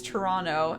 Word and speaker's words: Toronto: Toronto. I know Toronto is one, and that's more of like a local thing. You're not pronouncing the T. It's Toronto, N-N-O.